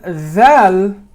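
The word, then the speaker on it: ذال: So when we say the dhal, your teeth and your tongue actually comes out a bit like that. And that's your other teeth, and that's your chin, and that's the closing of the mouth. You got it? The dhal is coming out like that, but this tip is actually touching your molar. Okay? Dhal, underneath the molar.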